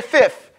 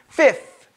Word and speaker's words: fifth: fifth i know in new york we say fifth with a f f but it's properly pronounced fifth okay and see with the fat i don't